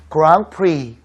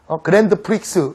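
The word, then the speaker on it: Grand Prix: 샴페인, 그랑프리 이런 단어인데요. 알파벳으로 써놓으면요 못 읽어요. 그랜드 프릭스 이렇게 읽습니다. 그게 이제 그랑프리거든요.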